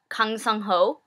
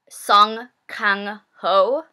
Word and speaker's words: Song Kang-ho: He's Kang Sung-ho, who is, oh, whoops, butchered his name. Song Kang-ho.